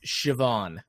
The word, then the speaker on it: Siobhan: I was very wrong this is an Irish name and it's pronounced Siobhan Wow I I don't